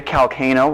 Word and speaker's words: Calcano: Calcano, rhymes with volcano.